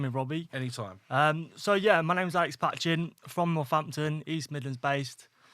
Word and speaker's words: Alex Patching: in the Tea Hut HQ, and that is Alex Patchin. I said it right, didn't I? That's it, mate. Alex Patchin, yeah.